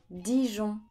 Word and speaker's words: Dijon: mon Ferrand clairement Ferrand Dijon dit Jean Dijon Grenoble Greux noble Grenoble